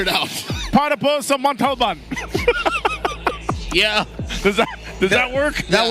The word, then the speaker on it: Montalban: Montalban. There you go. I'm pretty sure if you told the driver to go there, he would figure it out. Para po sa Montalban.